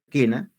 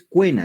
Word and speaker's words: quena: Quena, a ver, pronuncia quena. Tú estás pronunciando la E, o sea, es decir, no dices cuena, dices quena. ¿Suena la U? No.